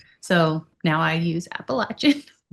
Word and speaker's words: Appalachian: And I think it's funny that down south like they say it like how you say it, Appalachin. Mhm. Well, I would say Appalachian until I was in that area and they scolded me and told me it's Appalachin.